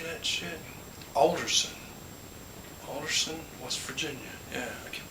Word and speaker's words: Alderson: She's in Anderson, how do you say that shit? Alderson, West Virginia.